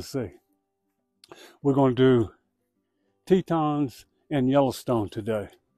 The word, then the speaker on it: Teton: And as far as the name, Grand Teton, the most common explanation means it means large teat or large nipple. And in French, it's pronounced Teton.